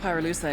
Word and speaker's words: pyrolusite: You know what pyrolusite is, right? Yeah, neither did I. Pyrolusite, key-syllable pyro, by the way, is the shit they mine in Villa Verde province to turn coca leaves into high-quality cocaine.